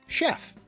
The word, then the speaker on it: chef: ch is pronounced ch, in later French borrowings the ch spelling indicates a sh sound, as in chef.